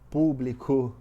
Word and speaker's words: público: Toda a palavra proparoxítona é acentuada, como lâmpada, como público, como gênero. Então, Público é uma palavra proparoxítona, ela é acentuada. O que é a proparoxítona? Lembrando, a antepenúltima sílaba, ela é mais forte, ela é tônica.